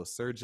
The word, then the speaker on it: Srdja: So Serja is definitely one. His name is spelled Srdja, Serja Popovich. And then Eric McBay, Eric spelled with an Aric.